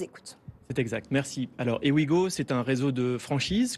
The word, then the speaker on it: Ewigo: le dirigeant et le fondateur de Wigo. Est-ce que je le prononce bien? Ewigo, précisément.